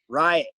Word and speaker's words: Riot: Riot. Right? Riot. Like a riot. R-I-O-T. Riot. Okay.